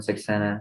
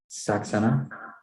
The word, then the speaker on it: Saxena: My name is Saxena, and today I'll be directing Carson Durst and crossing Blake Donker. Okay, and last name is pronounced again? Saxena. Saxena.